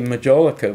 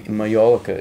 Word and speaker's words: majolica: going to talk about Americans say molica but we in honor of the way molica is said in the UK we'll pronounce it that way what if the molica